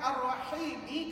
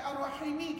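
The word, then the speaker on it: الرحيم: Jadi kata ulama, perkataan Ar-Rahimi, kalau kamu baca gitu Ar-Rahimi, hai tadi mat asli. Tapi masalahnya kita tak baca Ar-Rahimi, kita baca Ar-Rahim. Kita wakafkan bacaan betul.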